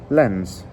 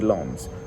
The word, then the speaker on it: Lens: Lens, or is it pronounced Lons? Lons, isn't it? It's French pronunciation, so it's going to be Lons.